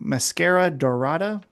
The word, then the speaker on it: Mascara Dorada: Mascara Dorada?